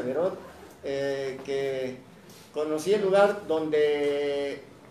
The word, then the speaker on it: Beraud: Y le decía yo a Selmita, que a Selma Beraud, se escribe Beraud, se pronuncia Beraud, que conocí el lugar donde se desarrolla una de las obras muy importantes del teatro.